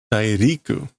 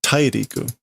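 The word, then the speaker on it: 大陸: Dairiku. So Tairiku, continent. I got the word right, not the pronunciation.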